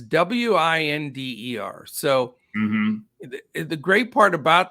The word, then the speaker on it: Winder: And, I don't know for sure if it's pronounced Winder or Winder. It's Winder.